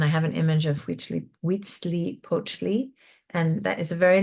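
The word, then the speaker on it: Huitzilopochtli: in the Mashika cosm cosmology were Wheatzi Pochi which was the sun god and I have an image of wheatly wetsley poachi and that is a very long word but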